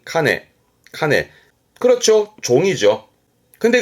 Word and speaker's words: 鐘: 발음은 카네.